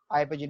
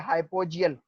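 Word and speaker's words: hypogeal: हाइपोजील। मैं दोबारा समझाता हूं, पहले लिख लेता हूं, ठीक है, फिर आपको ये हाइपोजील या हाइपोजियल जो मर्जी आप पढ़ लें, कोई टेंशन नहीं है।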